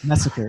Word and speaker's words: Mesecher: Mesecher.